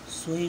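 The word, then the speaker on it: ث: আলিফ, আলিফ হবে না, এখানে আলিফ বলতে হবে, সর আ ল ই কা ফ, আলিফ।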